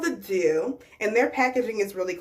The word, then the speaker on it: Doux: See, I've heard some videos say the dough, but they tell you it's pronounced Doux.